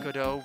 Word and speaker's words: Godot: But I guess it's just it has God in it. But you don't have to pronounce it God. You can pronounce it Godot.